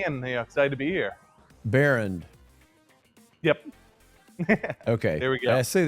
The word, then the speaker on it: Baehrend: Baehrend.